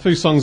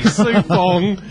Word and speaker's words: Sue-Fong: Foo Song's, of course, going to be there. Foo Songs, I've said it wrong already. Sue-Fong is going to be there.